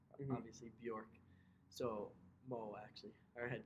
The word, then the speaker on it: Bjork: sports so my last name is hard to pronounce we've obviously Bjork so well actually our head coach he tells